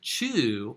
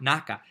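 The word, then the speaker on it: 中: Can be pronounced chu or naka.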